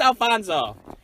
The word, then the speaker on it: Alfonso: So what'll it be, Alfie? It's Alfonso. Never Alfie. Also, never Alfredo. Never George, John, Paul, or Ringo. Just Alfonso.